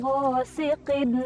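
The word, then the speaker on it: غاسقٍ: Atau ada juga yang membaca itu menambahkan alif lam di lafaz ini. Contoh, min syarri ghasiqin idza waqab. Nah, itu kan tidak ada alif lamnya.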